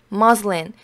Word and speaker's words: muslin: 파란색 muslin, 이거 발음이 muslin입니다.